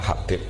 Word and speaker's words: Habib: Oke, yang benar itu bacanya Habib.